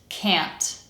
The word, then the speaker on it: can't: And just like with can, because that a sound falls before a nasal consonant, most American accents will pronounce it as eh. K, a, n, t, can't.